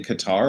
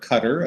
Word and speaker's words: Qatar: 2022 will be in qatar or qatar as some people would pronounce it the previous one that